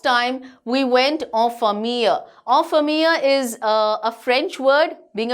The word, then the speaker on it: en famille: En famille is a French word. Being a French teacher, yes, I can tell you it's en famille, that is with one's family. That's the pronunciation.